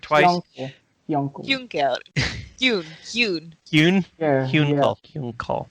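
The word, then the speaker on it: Hyunckel: Yeah, Hyunkal. I always thought it was pronounced Hyunkel, like uncle, but like he.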